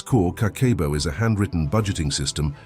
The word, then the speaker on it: Kakeibo: Kakeibo is pronounced Kakeibo, translates to household account book.